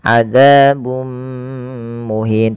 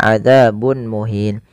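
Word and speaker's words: عذاب مهين: dengan bacaan Idgham bighhunnah yaitu cara membacanya memasukkan tanwinnya kepada mim dan ditahan adzabum muhin tidak dibaca adzabun muhin kemudian melafal muhin ada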